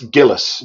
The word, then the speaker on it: Gillis: Not that Alec Guinness. No, it's Gillis. Gill. I mispronounced it. It's Gillis. Gillis, I believe.